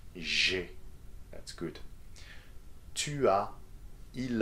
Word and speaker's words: j'ai: The first one, j'ai. You see the elision there? So the sounds are together, right? J'ai.